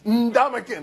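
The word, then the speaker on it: Ndamukong: If someone spells their name with an N and a D, I think we should do that. Ndamakin, like spring into it.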